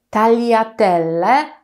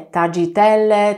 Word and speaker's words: tagliatelle: ono jest dosyć trudne dlatego z połączenia gr i nie czytamy jak i polskie tylko troszeczkę inaczej ten język nam się troszeczkę inaczej musi ułożyć On właściwie dosyć płasko rozkłada się na górnym podniebieniu pamiętajcie o tym żeby wymawiając i powietrze nie uciekało bokami mówimy talia tyle a nie tagiatelle tagiatelle czy inne różne